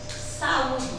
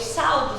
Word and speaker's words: saudo: saudar o verbo saudar quando eu utilizo na primeira pessoa eu vou dizer eu saudo portanto quando eu falo eu saludo os irmãos com a paz do Senhor eu